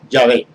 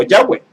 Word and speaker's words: Yahweh: Tenemos las 4 letras del tetragramatón, que la pronunciación más acercada, según los grandes rabinos, es Yahvé o Yahweh, que significa en nuestro idioma, en nuestra transliteración, recuérdelo, Jehová.